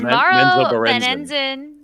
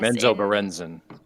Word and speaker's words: Menzoberranzan: I have written this down incorrectly because you didn't spell it, but does Morrow Benenzen? Yes. Menzoberranzan.